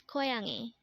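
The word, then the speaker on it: 고양이: the Korean term for student next word is koyangi again this is pronounced as koyangi and this is the Korean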